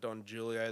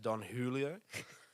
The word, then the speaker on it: Don Julio: just for the listeners I've been calling it Don Julio the whole time it's actually pronounced Don Julio but I'm gonna stick with Don Julio because it sounds cooler okay so here's that's